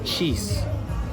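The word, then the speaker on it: xis: So, they have the letter X in the Brazilian language and the letter X is pronounced cheese. So they just eventually it became a cheeseburger and then eggs cheese tudo.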